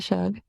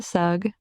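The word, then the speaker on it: Sugg: vaporous spirits and that's according to Shug wow sug you you said it wrong again yeah that's according to sug the freshest blood was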